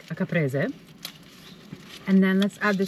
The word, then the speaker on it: caprese: They call it capresa, I think, but in Italiano we say caprese.